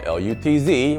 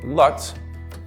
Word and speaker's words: Lutz: I know it's spelled L-U-T-Z, which for most of the world would be pronounced Lutz, but around Tampa it's pronounced L-O-O-T-Z, Lutz.